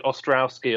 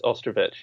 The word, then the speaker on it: Ostrovich: I think people decide I'm going full Eastern European on that last name, or I get like an Ostrowski or something. But you got it pretty good. It's Ostrovich, yeah.